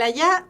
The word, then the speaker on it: allá: El allá vendría siendo un parónimo. El allá de A-L-L, o sea, A-L-L, A, ¿cierto? Con tilde, porque suena distinto. Allá. Ese es allá. Tiene la voz cargada en otra sílaba.